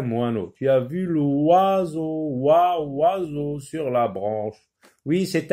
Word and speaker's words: oiseau: Donc c'est le mot oiseau déjà. Oiseau, oiseau. Donc vous entendez wa, oiseau. Donc comment il s'écrit?